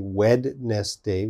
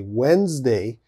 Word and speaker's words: Wednesday: next one wednesday okay so wednesday has a d in the spelling there's a d but of course we don't say wed nest day we say wednesday so lots of students spell it as they hear it okay you got to